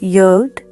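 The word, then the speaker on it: יוד: In Hebrew, the Aleph consists of two yuds, pronounced yod.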